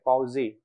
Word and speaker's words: Poiseuille: So generally this is pronounced as Hagen-Poiseuille, but the actual pronunciation should be just Poiseuille. The LLE is actually silent.